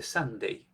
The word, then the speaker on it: Sunday: dado cuenta en inglés la palabra domingo se escribe sande se dice Sunday Qué quiere decir Sunday